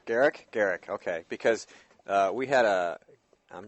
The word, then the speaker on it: Gericke: So coming up in our next segment, we will have Carla Gericke. Am I pronouncing that right? She'll correct you. It's Gericke. Gericke.